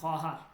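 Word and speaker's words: خواهر: ও এক বারোদার দরাম এখানে ওয়াওটা উচ্চারণ হবে না লেখাতে আসবে কিন্তু উচ্চারণ হবে না খহার মান এক খহার ও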